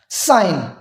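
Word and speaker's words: sign: जी को हमने कब साइलेंट करना है वर्ड में, वो जी जो एन से पहले आए उसको हमने करना है जी साइलेंट। For example, साइन, रिजाइन, डिजाइन, और वही फॉरन जिसको फॉरिजन बोला था, या इसको हमने यहां पे हमने फॉरनर लिखा, फॉरिजनर।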